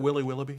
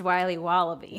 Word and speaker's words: Wiley Wallaby: Can I have a piece of that Willy Willoughby? Wally Wibbly. Wiley's Wallabies. Wallaby Wallies. Wilby Wababy. It's pronounced Wiley Wallaby.